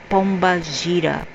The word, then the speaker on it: Pomba Gira: And in this Afro tradition in Brazil, they will call it pomba gira. In English, pronounced Pamba Gaia, something like this, Pamba Gaia, but in Portuguese it's Pomba Gira.